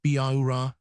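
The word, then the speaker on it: Bihaura: By horror, Tei called her, but he did not pronounce it according to English notions of spelling. Spelled by Hora, it sounded like Bauura with every syllable sharply emphasized.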